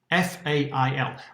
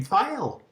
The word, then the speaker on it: Fail: it fail absolutely not his mother and father gave him the name file but us in western